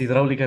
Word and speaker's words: hidráulica: Es hidráulica el acento en la A, me confundí.